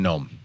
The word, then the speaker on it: gnome: So under prudence, Thomas Aquinas discusses the virtue of nome, which is spelled like garden gnome, but has nothing to do with garden gnomes.